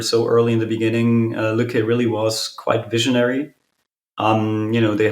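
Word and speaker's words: Lykke: How is it pronounced? Lücke? It's called Lücke.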